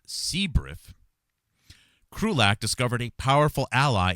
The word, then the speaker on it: CBIRF: biological incident response force or CBIRF pronounced CBRIF.